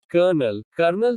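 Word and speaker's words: colonel: R is silent in some words. कुछ शब्दों में R का उच्चारण नहीं होता। फरवरी। कर्नल सैन्य अधिकारी।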